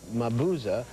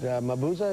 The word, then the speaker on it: Mabuza: pronounced your name right is it mabuza is that correct it was perfect oh thank you well